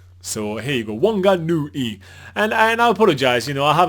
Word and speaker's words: Whanganui: Okay, so someone, Joe, was actually saying that he wants to give us a lesson how to pronounce Whanganui. So it's Whanganui. So here you go, Whanganui.